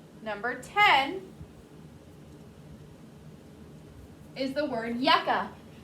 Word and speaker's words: yucca: the word yucca yucca how many syllables is the word yucca how many times does your chin hit your hand yucca two y u c c is the first syllable a is the second syllable yuck uh yucca is